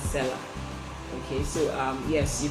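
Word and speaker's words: Selar: okada books and seller seller is spelled s-e-l-a-r that's seller okay so um yes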